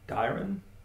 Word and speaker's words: Dairon: Yeah, it should be Dairon the minstrel.